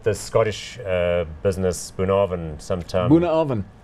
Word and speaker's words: Bunnahabhain: Bunnahabhain. Bunnahabhain. Yes. In Islay. You don't spell it anything like that. No, it's Gaelic word.